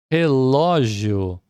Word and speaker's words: relógio: Relógio, acento agudo no ló, porque é uma palavra terminada, olha, em ditongo crescente, né?